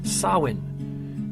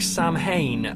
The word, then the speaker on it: Samhain: celebrated by the Irish and the Scots called Sawin now what exactly is SAR when well you might recognize it more being pronounced like Samhain because it's spelled s a.m.